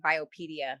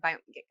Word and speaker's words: bioimpedance: Oh, I thought it was it was like bio like biopedia, like a Okay, bioimpedance. Okay. Bioimpedance. Bioelectrical impedance.